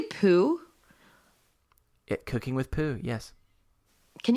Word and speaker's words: Poo: And I don't know if you pronounced it right. Did you say poo?